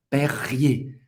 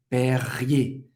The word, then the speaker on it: Perrier: Perrier, Perrier, Perrier, ok? E R, geralmente, no final de uma palavra, se pronuncia E.